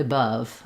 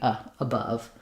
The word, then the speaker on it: above: So for example, in above, you'll see it written with the sound, above. And there, yeah, it doesn't really make sense to do above, right? It's got to be above.